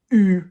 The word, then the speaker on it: eu: the T, and have, j'ai eu, not pronounced e.